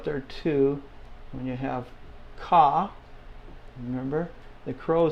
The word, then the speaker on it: ka: it is k okay but in Spanish it's Ka let's say that just like the the crow goes all right well in